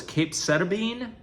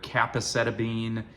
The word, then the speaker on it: capecitabine: The name of the pill is capecitabine. Some people pronounce it differently. You hear capecitabine. But anyway, capecitabine is the way that my nurse has pronounced it, or capecitabine. Anyway, it doesn't matter.